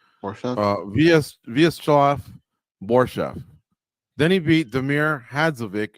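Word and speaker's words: Vyacheslav Borshchev: Vyacheslav Borshev.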